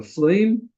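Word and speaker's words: fleam: So that's a lancet, and then we have this item here, which is called a phleem. I'll spell that, F-L-E-A-M, in case you wanted to know.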